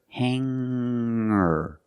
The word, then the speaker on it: hanger: It's just the nasal linked together with the Together, hanger, hanger. There's no g sound. I cannot say hanger. I cannot say singer. It's hanger and singer.